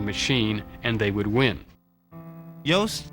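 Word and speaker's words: Yost: and they would win Yos rhymes with boast and that's what he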